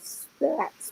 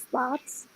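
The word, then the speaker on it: Spatz: um you can't i i pronounce his name in my head of spats but it's spots wow so did you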